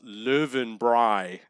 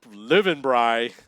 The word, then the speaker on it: Löwenbräu: Austrians and I asked them how to pronounce löwenbräu and they said it's pronounced live and Bry so there you have it live in Bry okay so we don't know if we hit